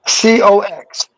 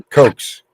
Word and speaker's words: Cox: COX. Cox. All right. Say it again. I'm sorry, I couldn't hear that. COX. Okay. COX. Cox. Oh, Coke. Cokes.